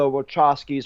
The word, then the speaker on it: Wachowski: Yeah, 100%, and it's also tied into the games as well because remember the Wachowskis or however you say their fucking names. You said it right, Wachowski.